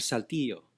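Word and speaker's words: Saltillo: how do you say Roberto Esquivel Cabrera of salty Oh salty oh okay okay total Mexican newspaper vanguardia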